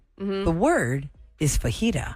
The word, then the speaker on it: fajita: would not know this right the word is fajita the word is fajita Vegeta the mispronunciation pronoun Vegeta bet bet you had family